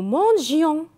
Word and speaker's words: mangions: mangeaient elle mangeait nous mangions ici avec nous mangions on n'a pas mis le pourquoi très bien parce qu'il ya le i s'il ya la voyelle ni après le g donc on va prononcer jo nous mangions avec